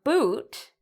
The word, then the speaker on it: boot: The answer is we pronounce the two O's differently in these words.